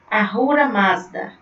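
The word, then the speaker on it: Ahura Mazda: do bem ela servia o meu o deus arruda mata aqui é assim que se pronuncia tá seguir o caminho do mal ele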